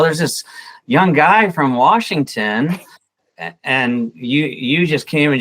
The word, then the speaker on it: Washington: And by the way, we pronounce it Washington. Washington. Okay.